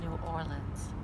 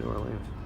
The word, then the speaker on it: New Orleans: Actually, people say don't say that. They say New Orleans. But where are we at in New Orleans?